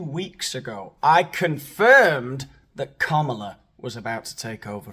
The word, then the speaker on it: Kamala: deep he's not CA Harris it is not Kamala Harris it is kamla Harris it's bouet b u c k e